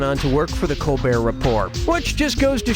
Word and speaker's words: Colbert: humperdink okay so Stephen Colbert of The Colbert Report changed the pronunciation of his name from Colbert to Colbert and that's how he